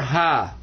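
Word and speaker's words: ح: And the letter ha has a special kind of a sound with it that you don't notice right away, but whenever you're wearing glasses and you need to clean them, you get that sound when you go ha, ha. That is the sound of this pot-bellied fella right here. That's ha.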